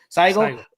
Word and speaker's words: Saigo: At the end of this tournament, so here you got Saigo. Here, did I said it right? I think Saigo. Yes. Yeah, Saigo.